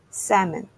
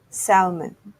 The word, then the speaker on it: salmon: A common favorite among Japanese food lovers, the pink flesh freshwater fish called salmon, but often mispronounced as salmon. Similar to almond, the L is silent.